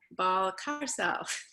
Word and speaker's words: Balcárcel: So yeah, I am Balcárcel, and the pronunciation is, it's like the ball in the car, and you're like Balcárcel.